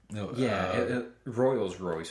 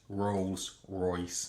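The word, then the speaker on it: Rolls-Royce: No, it's Rolls Royce. No, that's our actual pronunciation of it. Yeah. But uh in my in my research of this before tonight, they pronounced it royals roy.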